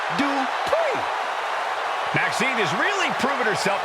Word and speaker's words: Dupri: Here comes the talented Maxine Dri. Uh, Michael, it's pronounced Dri.